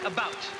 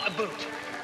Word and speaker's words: about: speak English and French not American and I pronounce it about not a boot I can proudly sew my country's flag and